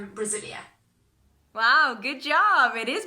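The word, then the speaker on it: Brasília: Is that pronunciation okay? But actually, it's Brasilia. Wow, good job. It is Brasilia.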